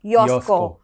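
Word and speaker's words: Joško: nome dele é Yosco, porque é um J e ele é croata. Mesmo caso do Jankos. É. E e nesses países o o J quando está no meio é mudo e quando está no início é um I, né?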